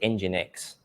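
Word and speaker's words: nginx: and PHP or lamp which is engine X I know what because you can't pronounce so they use an e um but basically these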